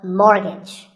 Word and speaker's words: mortgage: buy a house so which letter is silent here it's the t the first syllable is more and the second is so mortgage number 27 is this